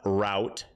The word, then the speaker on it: route: Sor you're killing me US English is uh rout and UK English is root it's a French word and UK is closer to the original pronunciation I pronounce it route